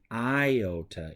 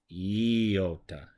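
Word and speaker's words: γιώτα: they are pronounced E this isn't iota its yota it's either a sound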